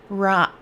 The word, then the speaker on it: Raanan: Every time I look at it, I want to say Raanan, but she told me how to pronounce it, and it is Raanan.